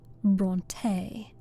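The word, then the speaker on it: Brontë: Bronte.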